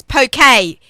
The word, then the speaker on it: poke: 3 years ago for the Tom Khe Shabbos poke. P-O-K-E, but it's pronounced poke.